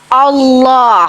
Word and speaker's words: Allah: yang saya kenal itu adalah Allah ditafkim bacanya ditebalkan karena ada huruf lam lam Allah Allah Siapa itu